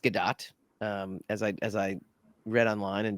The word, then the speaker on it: Gadot: You're talking about Gal Gadot, and it is actually pronounced Gadot, as I read online and discovered, much to Steve Hovecki's chagrin many years ago.